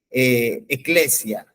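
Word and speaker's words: ἐκκλησία: la palabra griega iglesia que eclesia que es como se la pronuncia en el en el griego no y y este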